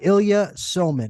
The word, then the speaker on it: Ilya Somin: constitutional studies at the Cato Institute Professor Ilya Ilya sulman am I pronouncing that correctly yes you are Ilya soman welcome to the show thank you for having